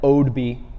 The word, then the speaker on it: Oadby: It's going to be held at Oadby, UK.